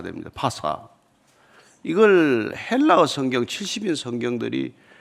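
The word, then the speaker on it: פסחא: 그걸 아람어로 발음하면은 파스하가 됩니다. 파스하.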